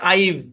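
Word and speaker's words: I've: apostrophe V ই হ্যাঁ এটার উচ্চারণ হচ্ছে আইভ কি উচ্চারণ আইভ হ্যাঁ আইভ ব্যাস কোন ব্যাখ্যা নাই কেমনে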